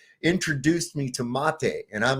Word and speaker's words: mate: And the How do you correctly pronounce it, Matt? Mate.